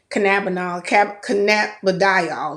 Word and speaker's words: cannabidiol: No THC, and there are going to be 6 milligrams of cannabidiol is how it's actually pronounced, per treat.